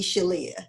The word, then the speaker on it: Shelia: And some people do call me, some of my specials do call me Shelia. So Amy, she's not mispronouncing my name. If you look at the spelling on the bottom, you'll see. So she's not mispronouncing my name, but I always just say Sheila, but she was good.